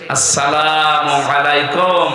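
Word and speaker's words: السلام عليكم: প্রবেশ করেন এ শব্দটাকে আর যারা এখনো পর্যন্ত উচ্চারণে শেখেননি তাদের কপাল নষ্ট হওয়া না আজকে থেকে ঠিক করে নেবেন আসসালামু আলাইকুম আদম থেকে শুরু করে আমাদের নবী পর্যন্ত প্রত্যেকের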